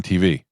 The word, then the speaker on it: TV: You You put the the emphasis on the T, not the V.